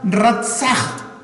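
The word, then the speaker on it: רָצַח: la palabra hebrea para matar es la palabra rasa así se pronuncia el rap y esa palabra literalmente significa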